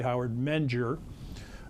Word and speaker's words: Howard Menger: Anyway, but I remember hearing about Howard Menger. That's who we're going to talk about. Howard. That's how you say his name, by the way, Howard Menger, on the radio when I was in the 60s.